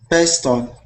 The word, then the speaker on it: pistol: Pistol. Pistol. No? Yeah, perfect. Pistol. Pistol. Pistol. Excellent. Excellent. See, that's that I sound instead of E. We don't say pistol, we say pistol.